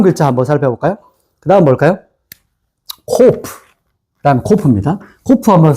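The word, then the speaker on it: קוף: 코프.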